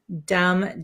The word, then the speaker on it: dumb: as you can see there's a b at the end here dum dum um so we don't pronounce the b okay so it sounds just like d m dum dum and if you uh